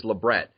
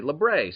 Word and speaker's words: labret: is in the 90s when it was labret or labret and i'm pretty sure every piercer experienced piercer anyway knew that it was labret but a lot of clients would say labret so you know you